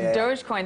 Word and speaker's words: Dogecoin: Now I want to quickly get to this because Dogecoin, I mispronounced it before, but Dogecoin, this is your baby.